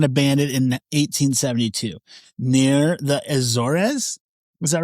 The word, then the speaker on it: Azores: S was found drifting in abandoned in 1872 near the Azores. Is that right? The I think I think it's pronounced Azors. That's how we pronounced it during the show when we did it.